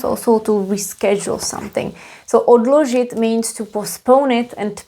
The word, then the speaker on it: odložit: Also very interesting point about the pronunciation. Odložit, here is d, odložit.